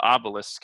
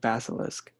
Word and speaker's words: basilisk: uh he gets the giant snake the the obelisk is that that's how it's pronounced right no it's uh what was it basilisk basically the apple that's from guardians of the